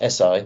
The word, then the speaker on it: Eseye: First of all, actually we're pronounced Eseye, not Easy, although that is a pretty good way of describing us, I suppose.